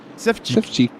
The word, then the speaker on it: Savchik: Savchik. Oh yeah, not Savage. Savchik. Savchik.